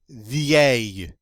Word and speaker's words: vieille: But now, look, this has a very irregular feminine form, vieille. And that double L is pronounced like a Y, so it's vieux in the masculine, vieille in the feminine.